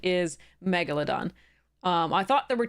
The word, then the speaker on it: Megalodon: correct pronunciation is uh Megalodon so the emphasis is on the first syllable um so because it